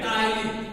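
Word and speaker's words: ptyalin: देखिए यहाँ पे जो है पी साइलेंट होता है, इसको PTYLIN लिखते हैं, टाइलिन।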